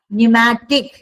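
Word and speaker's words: pneumatic: Please एक example आप याद न्यूमैटिक पी साइलेंट है।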